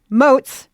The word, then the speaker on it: Motz: I am talking to chef, author, and owner of Hamburger America, George Motz. Rhymes with goats.